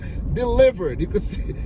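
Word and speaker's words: Dlivrd: say, let me rephrase, is an app called Delivered. Delivered. You could see it's spelled weird.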